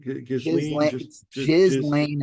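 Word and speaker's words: Ghislaine: Gizlane Maxwell.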